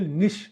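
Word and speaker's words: niche: concept है जो ecological निश कहलाता है इसको उच्चारण करने का इसके उच्चारण का जो सही है वह है निश ठीक है तो इकोलॉजिकल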